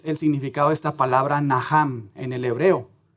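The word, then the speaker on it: נחם: Por ejemplo, comenzando ahí en el Antiguo Testamento, hay una palabra hebrea que se pronuncia así, naham.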